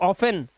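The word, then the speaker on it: often: न लगा हुआ है ओ एफ के बाद तो ऑफेन T silent match T silent क्योंकि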